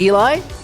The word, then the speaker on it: Eli: It's pronounced Eli? I got it.